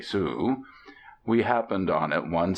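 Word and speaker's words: Sault Ste. Marie: by by the little town of sus Marie pronounced abruptly Sue we happened on it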